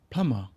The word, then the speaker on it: plumber: thank you plumber plumber then come a silent B B ummer plumber when is the plumber